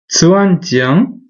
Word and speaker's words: 钻井: And this word is pronounced zuanjiang, and it is the tower that you build